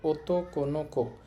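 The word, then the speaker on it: 男の子: ওতোকোনোকো অর্থ হচ্ছে ছেলে শিশু।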